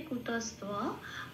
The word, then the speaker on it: কুতস্ত্বা: ওখানে বটাকে ও প্লাস অ হিসেবে সংস্কৃততে উচ্চারণ করে, সেই জন্য তোয়া।